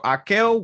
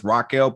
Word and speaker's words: Raquel: director of the film haka one one all right all right so akel won one and um because that's that's the correct um a portuguese way to pronounce that correct yeah i can